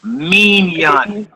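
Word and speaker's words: מִנְיָן: You would say minyan. Mion. Minyan. Mignon. Just like a minion.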